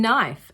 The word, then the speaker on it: knife: N as in knife. At the beginning of words, the K is silent.